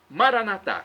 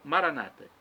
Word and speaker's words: Maranata: nós católico católicos dissemos dizemos Maranata com a tônica na última sílaba nossos irmãos separados os evangélicos ou protestantes dizem com a tônica na penúltima sílaba Maranata não importa pronúncia Maranata